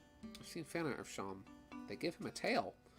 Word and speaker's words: Seam: think that it's pronounced seem and then he tells you oh yeah it's pronounced like Sean his name is sheem